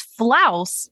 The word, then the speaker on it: Flaus: It's Flaus. I would always have to say it's FL and then house, but no H, like Flaus.